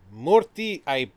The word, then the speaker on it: Murthy: Murthy, I'm gonna mispronounce Murphy. this. It's pronounced similar to Murphy, but it's Murphy versus Missouri.